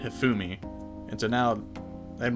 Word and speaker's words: Hifumi: Shaggy with me I I used to call her hiffumi but then I heard people pronounce it hifumi and so now I'm